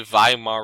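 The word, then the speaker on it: Weimar: call this Republic the vayam our republic spelled with the w pronounced with the v welcome to German it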